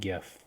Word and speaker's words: GIF: a little five second gif jeff forgive however you want to say it the i don't care what anybody says the correct correct pronunciation is gif right um so i